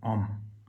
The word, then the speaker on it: Om: And also another meaning is in Om, it has the 3 syllables combined together, A, U, and Ma.